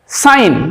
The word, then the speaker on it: sign: তারপরে দেখো জি জি কোথায় কোথায় সাইলেন্ট হয়ে যায় সাইন আমরা সবাই সাইন করি SIGN দেখো সাইন জি উচ্চারিত হচ্ছে না সাইন ডিজাইন ডিজাইন